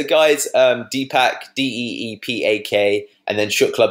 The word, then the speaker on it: Shukla: So guys, Deepak, D-E-E-P-A-K, and then Shukla, both spelled phonetically, like as you'd say it, S-H-U-K-L-A.